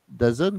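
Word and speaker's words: DAZN: vous donner un flop c'est pour dazon c'est ça ça se prononce comme ça la chaîne la chaîne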